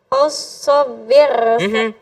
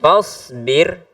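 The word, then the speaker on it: فاصبر: Fasobir. Lihat. Fa. Fasob. Fasbir.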